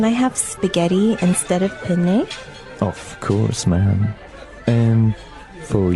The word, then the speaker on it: penne: pronounce uh we said penne in uh in English in American English but in proper Italian it would be penne penne so you you double pronounce the consonant what about fettuccine oh